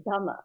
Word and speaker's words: Dhamma: It's Dhamma. So it's Vipassana, but it's Dhamma. So it's just like Dharma, but without the R.